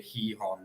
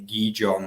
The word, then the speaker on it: Gijón: led to believe that the Spanish say Gijón rather than Gijón, which we probably say in English, really.